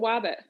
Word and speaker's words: wabbit: Like rabbit, but wabbit.